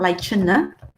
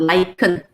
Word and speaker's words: lichen: Okay, you pronounce it as K. It's a K sound, not lichen. It's a K sound, lichen.